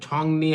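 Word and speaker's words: 정리: 2 number হচ্ছে ছংনি হামনিদা মানে গোছগাছ করে, এই যে ইয়ং এর পরে যদি রিউল থাকে তখন রিউলের উচ্চারণ করবেন নিউন, এটা হবে ছংনি।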